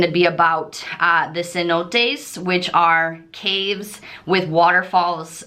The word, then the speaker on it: cenote: entry into the um cenotes which in English is Sino which we call hundred dollar bills but Cenote which is the correct pronunciation in espanol is these waterfall caves